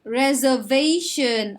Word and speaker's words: reservation: reservation ออกเสียงหนักตรงที่ v นะคะ reservation Do you have a reservation?